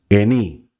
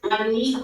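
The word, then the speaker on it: אני: Eni. ¿es en I o es Ani. Perdón, ani.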